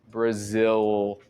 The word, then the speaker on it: Brazil: na garganta tudo World o nome do seu belo país a gente vai dizer nós nativos dizemos como brzil Brazil eu creio que essa